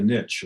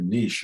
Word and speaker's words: niche: Sometimes coaches are always told to, have a niche or a niche or however you want to pronounce it. It's always thrown around both ways. Depends on how French you want to be, I guess.